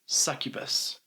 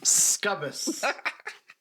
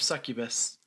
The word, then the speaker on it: succubus: only problem is that he pronounces it scubas I I was laughing